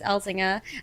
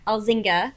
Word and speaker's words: Elzinga: It was with a casting director, Candace Elzinger. Elzinga is how you actually pronounce her name.